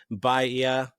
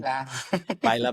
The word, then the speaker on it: Baila: Please, Robert, correct me if I'm incorrect in terms of pronouncing this. Bahia, Bahia, Baila, and baila. Baila Baila, thank you, and resistance music that tells us stories from the non-binary experience.